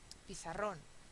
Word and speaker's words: pizarrón: Pizarrón, pizarrón. 1, 2, 3. En este caso es una palabra aguda, ¿sí? El estrés está en la última sílaba y acaba en N, con lo cual es una excepción. Entonces, sí lleva tilde.